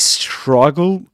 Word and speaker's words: struggle: struggle struggle struggle struggle in the word struggle the vowel sound in the syllable strong is the same you'll find in words such as but you when you say but I don't like it. I want to go but I you know I I I I'd prefer not to. So but struggle struggle struggle to understand all the different British accents.